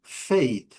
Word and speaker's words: fade: O A com seu som bem longo, o E não pronunciado.